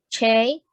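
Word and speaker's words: چ: Jim, J, and Ch, Che. CH. Starting with any letter starting with CH, you can start. Pronounce like English word church, Che. Che.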